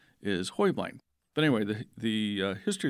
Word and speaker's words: Heublein: to change kind of change their name to hu bline so however you say it it's right but actually the correct Bavarian pron pronunciation is Hoy bline but anyway the the history of the tower